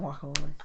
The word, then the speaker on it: guacamole: say that stupid word it spell with the GU so say it like with the gu gu guac not gu it's not a w gu there's W there's a u in it U is W is two U so wacamole wacamole guacamole guacamole guacamole